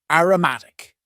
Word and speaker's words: aromatic: Next, we had an adjective, aromatic. Aromatic, and please focus on the pronunciation here. Aroma as a noun, aromatic.